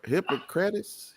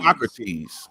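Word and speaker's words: Hippocrates: hypo hypocrite hypocrite hipop I don't know how you say it but it looked like hypocrite that's what it look hypoc hypoc hypocrates yeah there you go thank you for the enunciations yeah it sounds right still sound like a hypocrite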